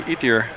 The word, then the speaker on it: Ethier: pronounce number 42, Courtney Ethier? And that's, I'm trying to remember now if that's what he said. That's Ethier. You pronounce every letter E-T-H-I-E-R.